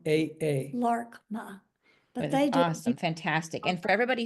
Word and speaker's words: Laarkmaa: if I need to LMA is how they say it in English it's LMA l a a r k m a a LMA awesome fantastic and for